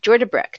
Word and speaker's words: Jordebrek: And that's what we have this morning on the line with us, just from right next door in Iowa, is Jennifer Jordebrek. Did I pronounce that correctly?